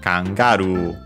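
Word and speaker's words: カンガルー: By the way, the accent is on actually kangaroo in English, but it's on the ga in Japanese, so kangaroo, kangaroo.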